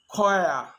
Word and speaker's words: choir: occasions it's not pronounced the his is silent choir echo echo utg cost